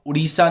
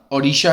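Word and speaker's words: Odisha: और देखिए स्पेलिंग पर भी ध्यान दीजिए, अब उड़ीसा नहीं है, अब इसका नाम ओडिशा है और ये काफ़ी पहले चेंज हो चुका है, तो इसकी प्रोनाउंसिएशन भी आपकी सही होनी चाहिए।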